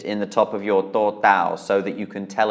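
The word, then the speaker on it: ตด: is that divot in the top of your totao so that you can tell it apart from dordek. The next word is actually just missing that vowel. It is totao dordek, which means it is pronounced tot, which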